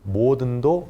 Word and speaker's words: 모든: 모든도 모든 이렇게 길게 발음을 해야 되거든요. 그래서 장음이기 때문에 점 2개를 찍었습니다.